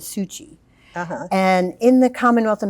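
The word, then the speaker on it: Syucy: and her name i it's s-y-u-c-y i've pronounced it as sushi and in the commonwealth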